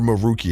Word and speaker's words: Maruki: the uh the Phantom thieves but it's actually maruki or maroi however you want to say his name and